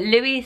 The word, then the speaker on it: Louis: But Louis, spelled the way that Kate and Will do, is pronounced as I'm pronouncing it now, with a silent S at the end, and it is stunning.